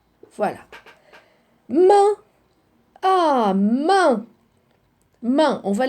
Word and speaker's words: main: On dit main. Ou bien muette, main. Alors, quand vous trouvez A-I-N, ça devient un.